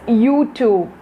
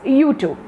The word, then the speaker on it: YouTube: next step is youtube i heard even some people pronouncing this term or this app as youtube you're not using that long vowel in between that word but the actual pronunciation of this app is youtube youtube so you have to use the long vowels okay not the short